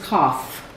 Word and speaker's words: cough: This is cough.